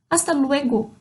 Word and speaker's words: hasta: Hasta luego. Começa com H, mas eu não pronuncio o H nenhuma dessas, tá bom?